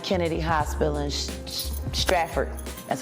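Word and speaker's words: Stratford: Kennedy Hospital in Straford. That's how you pronounce it. Straford, New Jersey.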